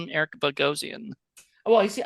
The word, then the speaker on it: Bogosian: I always call him Eric Bogosian. Well, you see, I used to call it Bogosian, but it's Bogosian.